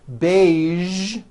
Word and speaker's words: beige: Now, there are only a few words that have the voiced zh sound at the end. A few of these words are the color beige, the word massage, and the word prestige.